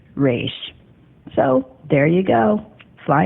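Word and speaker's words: Ra's: Danny was asked was is it pronounced Roz or race and Danny said I meant it to be pronounced race so there you go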